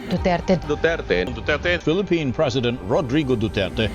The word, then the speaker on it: Duterte: IC in the hag pronouncing former president Rodrigo Roa du's surname as duur Mr duur Mr DS Mr du rather than the Spanish Filipino way which Filipinos do which is du du Philippine president Rodrigo duterte